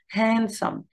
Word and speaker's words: handsome: he is handsome handsome بس الدي بخطفها شوية كأنها silent letter handsome He is handsome.